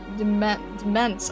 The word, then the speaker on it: Demesne: If we're on pronunciation, the Mensne part of Demesne is sound like ents in dense. Okay, so that's confusing, because that feels like the letters are flipped around. What's the name? Demence.